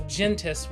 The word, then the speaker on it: Gentes: Board Game Geek page, Gentes is the plural basically for families in Latin. And the single for that is gens, so that's kind of where we get like Genesis and things like that. So Gentes would be, I believe, the correct pronunciation.